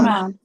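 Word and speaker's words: مَدّ: মানে সেটা ওই জেরের কারণে ওয়াওটা ইয়া হয়েছে, আসলে তো ওয়াওটা মাদ। মাফউলুন আসলে কি ওয়াওয়ের কোনো উচ্চারণ আছে না, ওয়াও একটা মাদ? একটা মাদ।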